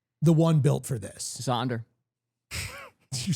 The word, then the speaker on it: Xander: Xander.